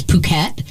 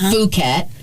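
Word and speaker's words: Phuket: PP cool yep puket cuz puket is spelled pH also right not fukat it's puket uhhuh and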